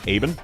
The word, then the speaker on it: Ebenholz: If you pronounce him Ebenholz, then he would go E tier. But if you actually pronounce him with the German, Eben, he's an A tier.